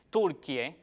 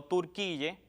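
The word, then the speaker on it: Turquía: esta grafía en turco, lo más apropiado sería decir Turquie y no Turquille, porque Turquille no es ni español ni turco, es un híbrido ahí entre los dos idiomas que no es aconsejable su uso.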